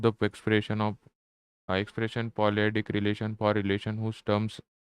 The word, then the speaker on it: polyadic: polyadic Let's see how it is pronounced. polyadic Yeah, greatest of least stop and all other relation expressed by super relatives are polyadic.